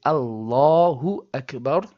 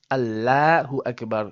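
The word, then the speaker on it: الله أكبر: An example, if you have a fatha as in Allahu Akbar, notice the fatha is on the alif of the word Allah and that means we say Allahu Akbar and not Allahu Akbar.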